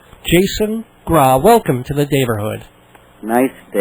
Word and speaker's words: Graae: Graae, which is pronounced Graae. Jason Graae, welcome to the Daverhood.